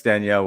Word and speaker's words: Danielle: And Danielle, how do you pronounce Danielle with a French accent?